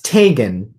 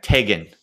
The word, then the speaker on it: Txgen: We are now joined by Txgen. Did I get that right? It's Txgen. Oh, you pronounce it with the hard G. Okay. Yeah. Okay. Txgen.